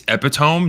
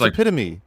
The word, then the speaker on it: epitome: I got scolded once for saying Oh, it's it's actually it's epiome, not epitome. No, it's not. It's epitome.